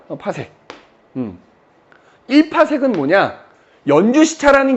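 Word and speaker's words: 파섹: 그 다음에 나오는 단위가 이제 바로 뭐냐면 PC라고 쓰고 읽을 때는 파색이라고 읽거든. 파색.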